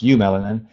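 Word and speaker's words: eumelanin: pigment you melanin pigment that's partially but it's pronounced you melanin it's your black and brown pigment okay so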